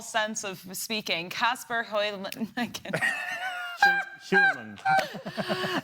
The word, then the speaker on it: Hjulmand: Let's quickly jump to Denmark's manager, Kasper Højlund.